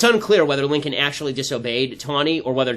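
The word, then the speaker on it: Taney: there is a judge Justice named Roger tany ton is how it's pronounced actually and justice justice ton who's the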